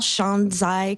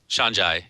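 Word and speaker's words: 山寨: Well, there's also this concept of, how do you say it, Cal? Shanzai culture? Shanzhai, yeah. I think that's how I say it. I'm not sure how Chinese people would say it, but Shanzhai.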